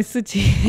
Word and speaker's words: Suchi: You can call me Suchi. All right. Awesome. Awesome. He is actually pronouncing so nicely.